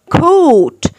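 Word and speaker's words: caught: يلحق catch catch catch coat coat، الجي والاتش silent silent ما منطقهمش coat coat، يجري run run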